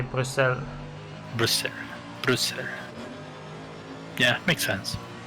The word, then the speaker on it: Bruxelles: You say Bruxelles. Brussels. Yeah, makes sense. So it's like Bruxelles is like French, and then Brussels is how you would say it in Dutch, I guess.